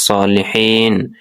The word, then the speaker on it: صالحين: আসসালামু আলাইনা, আইন গলার মধ্যে থেকে হবে, ওয়া আলা ইবাদিল্লাহিস সালিহিন, ও আ গলার মধ্যে থেকে, ই গলার মধ্যে থেকে, এরপরে সলিহিন, হা এটা বড় হা গলার মধ্যে থেকে শস্য করে উচ্চারণ করতে হবে।